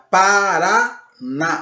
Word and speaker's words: Paraná: digo a palavra Paraná, a sílaba mais forte que nós falamos aí é o RA, o último RA, Paraná, o NA, Paraná, e o acento agudo no A, ok? Essa é a sílaba tônica.